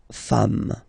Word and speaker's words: femmes: singular form, and then you just add this s at the end, and as we said, you don't pronounce it, so you get des femmes.